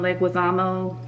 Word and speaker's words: Leguizamo: so on the funny side and um John Leguizamo like that's how you say his name he's